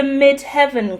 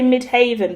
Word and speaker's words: midheaven: This is the midheaven card, right? I want to say mid haven, but I'm sure that's not the right way to say it because it does say mid heaven and I am indeed British.